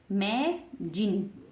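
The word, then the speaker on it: magazine: तो क्या बन गया मै जिन इस जड को हम किससे पढ़ रहे हैं इस जड को हम ज से पढ़ रहे हैं किससे पढ़ रहे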